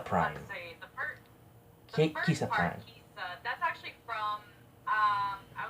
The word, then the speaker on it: KisaPrime: pronounce how are we going to pronounce your name. Kisa Prime.